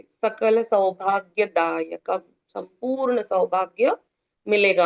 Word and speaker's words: सकल: break लेते हैं पहले सकल स क और ल तीनों अक्षरों के पूर्ण उच्चारण सकल आप जब प्रिंट आउट करोगे तो आप पेंसिल से अंडरलाइन कर सकते हो वर्ड्स के नीचे सकल तीनों के उच्चारण पूर्ण